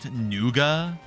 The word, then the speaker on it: nougat: say the hydro bill in Australia they call nougat noua that sounds like a